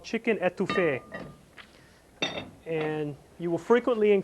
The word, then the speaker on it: étouffée: If you put the emphasis on the first E, étouffée, that's like smothering a person.